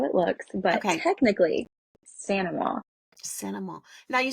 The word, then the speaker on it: St. Amant: And if you really want to go like super Cajun correct pronunciation, Saint Amant is actually Sanama, which Sanama.